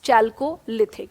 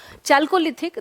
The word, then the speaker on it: Chalcolithic: भी इस्तेमाल हो रहा है, तो दैट टर्मिनोलॉजी, जो स्पेसिफिक टर्मिनोलॉजी श्वेताब इसमें जो इस्तेमाल होता है दैट इज चाल्कोलिथिक।